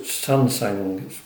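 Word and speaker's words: Xuanzang: So the story is based on a factual event concerning the monk Xuan Zang, or pronounced Sansang, who was concerned about the pure translations of Buddhist scriptures into Chinese.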